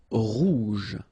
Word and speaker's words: rouge: Rouge. Remember, G-E, je. Rouge.